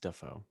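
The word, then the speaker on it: Dafoe: It's actually pronounced Duffo.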